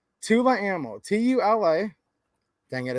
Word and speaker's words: Tula: to your friends, because some people will tell you this is called Tull Ammo. It's a play on words the way they spell it. This is Tula Ammo. You're supposed to read the same A twice, because when you just